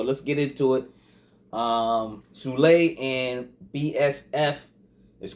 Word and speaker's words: Sule: him all types of names but um it's pronounced sule sule so sule and black soprano family has